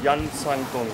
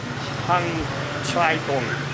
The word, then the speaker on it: Hang Chai Tong: Some said the name was Yan Sang Tong or Chan Sang Tong, to pronounce it more correctly. According to latest research, the name was actually Hang Chai Tong.